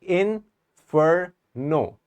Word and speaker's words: Inferno: like in for no so there are three syllables we pronounce it like that and now what do we say we do we say in Inferno or Inferno or Inferno so these are the three stress patterns that I have showed you which one